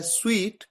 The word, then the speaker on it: suite: दूसरा word SUITE, इसे pronounce किया जाता है स्वीट, और इसका मतलब होता है होटल में कमरों का सेट।